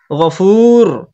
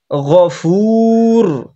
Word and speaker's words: الغفور: আজিজুল, আজিজুল নেই এখানে, আজিজুল আছে, আজিজুল গফুর। গইন যাবার গ, এটা হচ্ছে পুরো অক্ষরের মধ্যে একটা, ওই জন্য গভীর করতে হবে গইনটাকে।